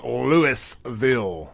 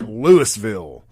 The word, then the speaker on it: Louisville: He's like, it's Louisville. It's Louisville, not Louisville.